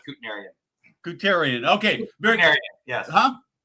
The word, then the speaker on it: Kutnerian: So there I mean there's two accepted pronunciations in the family. One's Kutnerian and one's Kutnerian. I go with Kutnerian.